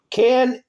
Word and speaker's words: Knesset: There's how you spell it. K-N, how's it? K-N-E-S-S-E-T.